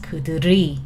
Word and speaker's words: 그들이: has a circle, so if there's a bottom consonant, the pronunciation, it affects to it, right? 당신은, it goes next, 당신의, right? 그들의, L goes next, 그들이, right? 그들, not 그들의, 그들이. It just automatically change it, right?